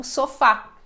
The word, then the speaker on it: sofá: é predominantemente paroxítona né nós damos ênfase na segunda sílaba então é sofa né seria sofa e não sofá Então precisamos colocar o assento na letra A justamente para indicar que esta é a sílaba mais forte tá bom o a